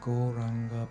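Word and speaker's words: Gauranga: We just do a few minutes of Goranga breath meditation and finish. Goranga has 4 syllables. This wonderful mantra has 4 syllables. Go, ra, an, ga.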